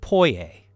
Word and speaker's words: Poyais: He named his country Poyais, pronounced Poyais, because a fake country should always sound slightly French and expensive.